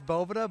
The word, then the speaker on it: Bovita: It is Bovita, but hey, everyone says Bovita, or it's a bunch of different things.